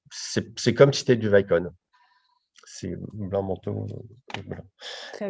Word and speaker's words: Vicon: Pour le scan du mouvement, est-ce que vous utilisez un système Vicon? Pardon si je prononce mal. Euh, alors, Vicon, Vicon, Vicon, ce pardon.